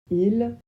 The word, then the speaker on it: ils: Il au pluriel. Pour la prononciation, on le prononce il pareil que pour il au singulier. Il il pareil. Mais on fait la liaison quand le verbe suivant commence par une voyelle ou par un H.